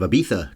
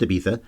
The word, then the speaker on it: Ibiza: I'm a guy who's never been anywhere near Africa, unless enjoying my honeymoon on the island of Ibiza counts as close to Africa. It's pronounced Ibiza, not Ibiza.